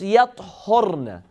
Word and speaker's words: يَطْهُرْنَ: It's يَطْهُرْنَ. They become pure. There's another recitation, another pronunciation, which is the same letters, same word, but the haraka changes. يَطَّهَّرْنَ. يَطَّهَّرْنَ. There's a shadda on the ta.